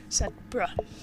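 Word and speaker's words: Sedbergh: Sedborough.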